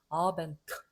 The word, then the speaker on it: Abend: 그러면 어떻게 자음만 가지고 발음하느냐. 아벤트 한번 차버려.